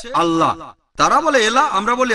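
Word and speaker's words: الله: একইভাবে আমরা জানি সঠিক উচ্চারণটা হচ্ছে আল্লাহ। তারা বলে এলা, আমরা বলি আল্লাহ। সমস্যা নেই, সঠিক উচ্চারণটা হচ্ছে আল্লাহ।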